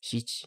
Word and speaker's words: 七: For pronunciation, the Middle Chinese ancestor of most modern pronunciations was jie. This becomes qi in Chinese, xich in Japanese, and chil in Korean.